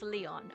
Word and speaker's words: Lion: you I'm sure a lion lion who the heck are Who? It's written as that, but pronounce Le Okay, thank you. Pronounce Leon.